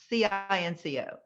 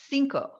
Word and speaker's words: cinco: But when you say the word C-I-N-C-O, cinco, not Cinco. Oh, Cinq is the French pronunciation for the number 5.